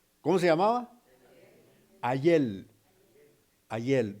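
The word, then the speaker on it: Hallel: Ayel, no es ayer, ¿verdad? Con el perdón de nuestros hermanos boricuas, ¿verdad? Que entonces ellos por decir ayer dicen Ayel, ¿verdad? Pero el Ayel, así como se escribe Ayel, H-A-L-L-E-L, Ayel, significa alabar.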